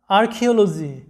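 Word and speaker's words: archaeology: তো দেখো পরবর্তী শব্দটা আর্কিওলজি, মানে হচ্ছে প্রত্নতত্ত্ব।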